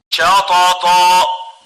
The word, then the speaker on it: شطط: شطط Shatata, shatata. So we don't velarize the sheen, yet we velarize the two letters following it.